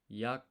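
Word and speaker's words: 役者: Actor is yaksha. Okay. So this is Kaikeshi. This is Yakusha. But the U here in ku is not pronounced, so it's yaksha.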